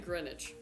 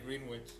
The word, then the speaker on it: Greenwich: Greenwich. See, Senica is saying Greenwich. Okay. Well, unless Sonic is making fun of the way I said it. I'm still going to read a green witch.